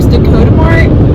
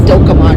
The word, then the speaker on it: Dakota Mart: a grocery store, and I did not pronounce it correctly. She called it Dokamart or something. I thought, you mean Dakota, like South Dakota?